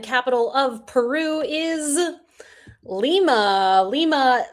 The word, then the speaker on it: Lima: Lima spelled like said differently than Lima Bean.